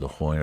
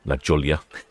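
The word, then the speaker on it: La Jolla: He's going down to La Hoya. Very lovely beach indeed down there in San Diego. Very popular. Been to La Hoya a few times myself. Although initially I did call it Laola Lajolia.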